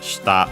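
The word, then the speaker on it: 下: Other ones accented usually on the last syllable. Comes to mind, for example, we should have studied already even its kanji shita for tongue. Yeah. By the way, contrasting with shita unaccented for down, bottom, and so on.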